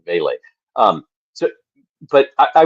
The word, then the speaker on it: Vele: Is it Vele, by the way, is Vele, not Val. Valle. Yeah, but but you um like V A Y L A Y. The Saints sent out a pronunciation. Vele.